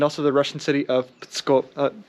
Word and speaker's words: Pskov: Petersburg is very close, Tallinn is very close, Riga, and also the Russian city of Pskov. Pskov. It's spelled like this.